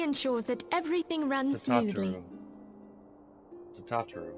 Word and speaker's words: Tataru: Oh, I should also introduce you to Tataru, our clerk. She ensures that everything runs smoothly. Tataru. I was pronouncing it wrong.